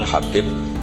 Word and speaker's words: Habib: yang nulis Abi Abdurrahman Habib assulami itu di harakatnya kitab itu ada yang nulis hubb tapi yang benar Oh gigih yang benar itu bacanya habib habib itu asulami itu ikut